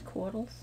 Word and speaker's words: coatl: See, I know them as coatls. That's how you pronounce it.